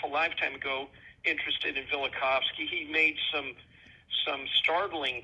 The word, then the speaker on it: Velikovsky: Velikovsky, yes. Yes. Uh yeah, I haven't visited his ideas in many and many a year, but I was years ago half a lifetime ago interested in Velikovsky.